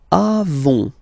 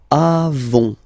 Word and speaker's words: avons: Then nous avons, final s not pronounced, avons, okay, and then we